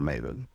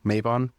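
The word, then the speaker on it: Mabon: land and there are many stories about the maven or Ma I've heard pronoun with Maven and maavin but most commonly pronounced maon it's actually where the wiccan holiday of Mayon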